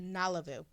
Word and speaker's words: Nalavu: Yeah, that's how it's pronounced, Nalavu.